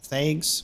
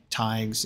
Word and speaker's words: Taigs: Thags was how I was saying it. Taigs is how they say it.